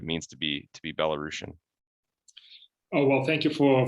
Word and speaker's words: Belarusian: emphasizing that i think some people mispronounce it as bella bella russian but i was told no it's belarusian uh important to emphasize